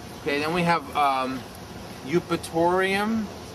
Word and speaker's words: Eupatorium: Eupatorium. Spell it.